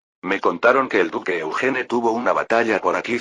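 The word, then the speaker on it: Eugène: Sin embargo, Eugene tenía una idea. Eugene, es decir, la pronunciación francesa de Eugene. Si se cambia este nombre al estilo alemán, queda así. Eugen.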